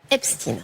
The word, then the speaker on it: Epstein: Pourquoi on prononce Epstein ? Tout simplement Magali. parce que c'est comme ça que lui se faisait appeler et c'est comme ça que les médias américains, on a vraiment écouté, on s'est posé nous aussi cette question, les médias américain quand ils parlent de l'affaire, ils parlent de l'affaire epstine.